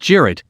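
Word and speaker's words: Cirit: The weapon's name comes from a traditional Turkish horseback game, Sirit, pronounced Jirit, where two teams of riders fight a mock battle using wooden javelins which are called Sirit.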